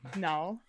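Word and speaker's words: Knull: That's spelled with a K. Null.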